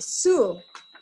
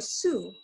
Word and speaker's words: Sioux: from the Midwest, and they are called the Sioux, okay, or Sioux. So this is a pronunciation since this is American French word.